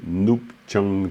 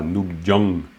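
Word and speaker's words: ནུབ་བྱང: Donc, orgen yulgi nup chang tsam. Alors, nup chang, faut bien prononcer le chang parce que chang c'est le nord. C'est pas Nupjang, Nupchang Tsam, Nupchang.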